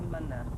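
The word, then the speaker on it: Mna: Lisa and I call each other Manna. We do, and we have done actually since. And it's spelled M-N-A. As in Manna.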